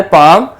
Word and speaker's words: palm: and next हमारे पास जो last one है पाम, उसमें हम सर्कल करेंगे L को बिकॉज L की जो साउंड है वो हमारे पास यहाँ पर साइलेंट है, PALM, तो L की